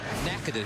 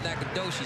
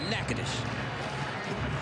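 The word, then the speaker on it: Natchitoches: it's just a production the one in louisiana you don't call it nakadoshi you call it nakanish one in texas you call it nacogdoches first down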